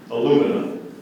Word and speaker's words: alumina: Alumina.